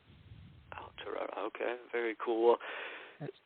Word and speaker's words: Aotearoa: Aotearoa, is that how it's pronounced? Aotearoa. Aotearoa, okay, very cool.